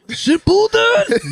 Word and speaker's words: Shippuden: Like, you gotta say it Japanese. Naruto Shippuden. You don't have to say it like that either.